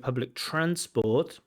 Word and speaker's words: public transport: So in that word public transport, those 2 words, public transport, the stress should be on transport, not public.